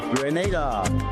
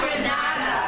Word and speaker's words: Grenada: in English it's called Grenada. Say it right. Grenada. Say it right. Grenada. That's right. Grenada. There we go. Say it right. It's Grenada. It's not Granada. It's Grenada.